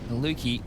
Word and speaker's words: Maluki: Maluki rhymes with fluky.